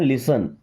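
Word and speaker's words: listen: यहाँ पे T silent होता है, लिसन।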